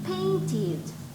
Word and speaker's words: painted: Remember that the ones that finish in T or D sound, right? You must pronounce it with ED, right? So paint, painted, painted, right?